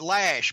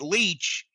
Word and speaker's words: Loesch: Chris lotion I know people have said they pronounce it lash but actually some people have said they ought to pronounce it leech so I'm gonna pronounce